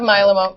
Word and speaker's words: myeloma: For treatment of myeloma.